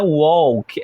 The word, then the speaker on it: walk: né Por exemplo ó aqui no Walk o o tem um som meio de o e a gente não pronuncia o l não é Walk é Walk né e a gente faz